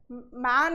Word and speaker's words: men: Difference किस चीज़ का है, MAN क्या होता है, मैन होता है, ठीक है। MEN क्या होता है, मेन, मतलब जो अ साउंड है बीच में M